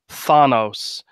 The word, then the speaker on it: Thanos: all that and I don't care who says it's fanos I'm still saying Thanos because that's how I've always said it that's